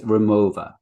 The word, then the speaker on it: Rimowa: so the company um i think you pronounce it with a v um because it's a german company from cologne and it's remover and i thought that